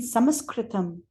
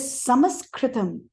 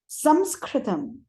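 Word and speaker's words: संस्कृतम्: I think it's best to speak in Sanskritam. Sanskrit is not the correct terminology. It is Samskritam. Samskritam.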